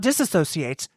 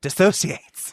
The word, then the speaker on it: dissociates: Not disassociates, dissociates.